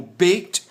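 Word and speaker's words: ב: não é aquele pontinho isso pode mudar isso muda de fato a pronúncia Dessa letra de uma maneira mais forte como bait para uma maneira mais Branda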